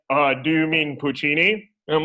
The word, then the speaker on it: Puccini: think i didn't know what opera was i pronounced puccini panuchi you know i i did i did i